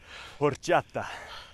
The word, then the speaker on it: horchata: No, but you have to say it like that. It's how it's pronounced, or else it's offensive to their culture.